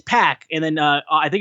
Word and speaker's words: PAC: Puck and then he goes like how's it pronounce basically it's like it's pack and then uh I think it was Austin